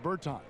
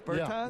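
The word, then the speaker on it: Bertāns: Is that how you say his name? Yeah. Davis Bertans. Davis Bertans?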